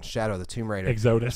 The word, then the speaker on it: Exodus: Exodus. So Exodia. It is Exodus. Exodus.